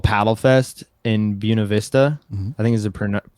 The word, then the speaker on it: Buena Vista: called Paddle Fest in Buena Vista. I think is the correct pronunciation. Everyone says Buena Vista. But Buena Vista, it's like southern Colorado off 285, the Arkansas River.